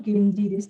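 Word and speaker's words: 源氏: Jadi ini bacanya memang Genji, ya.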